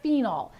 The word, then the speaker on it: phenol: find a very specific phenol it's spelled ph so the ph is making the f sound phenol p-h-e-n-o-l the phenols are found